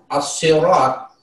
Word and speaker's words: الصراط: Untuk bacaan as-sirat, siratal mustaqim, yakni as-sirat di situ adalah asy-syamsiyah, sehingga dibaca huruf la'al masuk ke huruf asy-syamsiyah. Dan harfu shad yang dimaksud di situ adalah huruf tebal, sehingga dibaca dengan harus tebal.